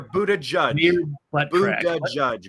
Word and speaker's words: Buttigieg: I think one of the latest rumors I've heard is Pete Buttigieg. If I'm pronouncing that right. Yes. I hear Buddha judge. Buddha judge. Like he's judging Buddhas.